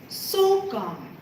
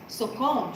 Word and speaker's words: Sokom: I thought I should say her name Sokam, Sukhom. but that's not how I say her name. It's Sokom. Sukhom, yes. Listen to the difference. Sokam.